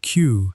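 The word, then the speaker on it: queue: The word Q has a peculiar property. It is the only English word that is pronounced exactly the same when the last 4 letters are removed.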